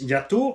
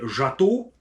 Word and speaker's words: Jato: Est-ce que ceux-ci sont les bras de suspension du, je vais le dire comme ça se prononce, Yato, pour les Français, Jato, le Jato 4S.